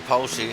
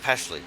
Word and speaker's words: Pashley: But Jaron Sanchez following behind Jared Polshy. Or Pashley. Jared Pashley. I can't believe I've been pronouncing his name wrong this entire time.